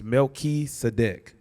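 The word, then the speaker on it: מלכי־צדק: In Hebrew, it's Melchizedek. Which is Melchi is king, Sedek is righteous.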